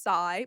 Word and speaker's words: SYI: She is the founder of SYI, pronounced sigh, but stands for Set Your Intention Acupuncture.